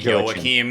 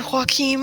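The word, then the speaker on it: Joachim: name completely it's actually yoim because it's like Germanic not not Hispanic but it doesn't really matter yeah I was like is it Haim I don't want to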